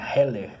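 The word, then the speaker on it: Hillel: Heller, a pronúncia certa do nome.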